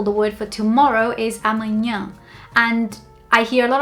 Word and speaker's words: amanhã: people say amanhã amanhã instead of saying amanhã with your nose and one thing that I tell my husband to practice all the time is pinching his nose and trying saying it with his nose pinched and he kind of gets it but I think the best way is to train yourself to make the sound with your nose not with your throat. So, it's not amanhã, it's amanhã comes from up here.